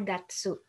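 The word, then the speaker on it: 月: ini nih anjing bulan Nah kalau bulan di dalam tanggalan dia dibacanya Gatsu jadi bulan Januari itu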